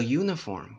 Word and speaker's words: uniform: to see you a uniform why we don't see the spelling we see that pronunciation that's you you you see the J here actually that's consonant that is not a vowel you see the it